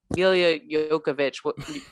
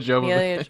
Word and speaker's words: Jovovich: is their names, like Mila Jokovic. Mila Jovovich.